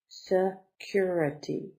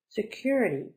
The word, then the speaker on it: security: taxi with you security security four syllables the accent is on the second one Sosa curity stuff curity security protection of a person